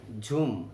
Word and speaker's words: জুম: ঝুম এখানে ইংরেজি যে উচ্চারণ লেখা তাতে আসে ঝুম, আসলে আমরা যেটাকে জুম বলি আর কি।